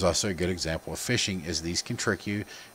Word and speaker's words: phishing: Types of social engineering attacks are phishing, pronounced as fishing, like you're going to go fish in a lake or something like that.